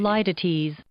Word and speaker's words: litotes: litotes Indeed it is. Litotes is a correct pronunciation.